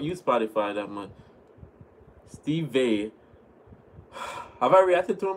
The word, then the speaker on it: Vai: Wait, it's pronounced Vai. V-Y. Steve Vai.